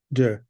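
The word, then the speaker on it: Deux: Jew is spelled D-E-U-X. Jew.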